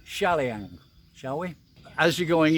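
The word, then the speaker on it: Chaliang: to call it because the Thai is pronounced CH as Shah not sure so let's say shalian shall we as you're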